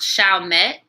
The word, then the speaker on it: Chalmette: girl it's pronounced Chalmette I keep forgetting they were colonized by French people I should have known